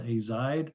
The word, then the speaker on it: azide: this crazy molecule that's called azide or azid a couple different ways to pronounce it three nitrogens net negative